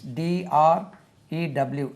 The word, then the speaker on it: drew: Then past tense, D-R-E-W, drew. It is not drew. It rhymes with blue.